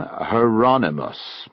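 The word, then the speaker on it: Hieronymus: He pronounced the first name Heronimmus. I thought that was how you said it. Rhymes with anonymous.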